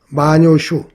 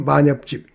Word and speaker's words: 萬葉集: 일본의 마녀집이라고 있는데요. 마녀슈 우리 발음으로 만엽집 그 마엽집에 실려 있는 그 5천 수가 넘다 그래요.